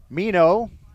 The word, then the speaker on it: Mino: barrel of his bat mino it's not spelled like nemo but it's pronounced that way called strike three on